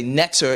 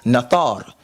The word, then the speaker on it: neter: We say neter is not our translation. We would say the proper net translation is nathar. Is it the same word? Yes. Does it have the same meaning? Yes. But it's two different pronunciations of the word.